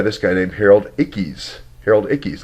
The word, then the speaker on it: Harold Ickes: Harold Ickes, I'll pronounce that right now. I've said the name wrong forever, but I got the catalyst right, and it's embedded.